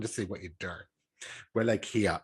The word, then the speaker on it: Wallachia: Wallachia, I think, is how it's pronounced anyway.